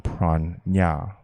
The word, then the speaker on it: prana: of the energy called prana correct pronunciation pran nya in san crit in the kabbalah this